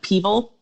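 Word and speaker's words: PEVL: The acronym we pronounce like Peevil. It should be PVEL, I know, but we say Peevil.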